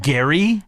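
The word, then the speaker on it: Gerry: Bachelor who we got Gary Gary spelled like Jerry but that's okay yeah g-e-r-r-y yeah yeah he's in his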